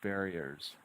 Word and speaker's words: barriers: Split it at the double consonant R. Barriers. Barriers. Barriers. 3 syllables. Make sure each one is strong.